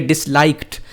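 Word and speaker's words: disliked: And they डिसलाइक्ड, यहाँ मैं आपको बताता चलूँ, ये लिखने में तो डी लिखा हुआ है ना, डिसलाइक्ड, लेकिन इसको पढ़ना टी है। डिसलाइक्ड नॉट डिसलाइक्ड, डिसलाइक्ड टी की प्रोनाउंस के साथ हम इसको पढ़ेंगे।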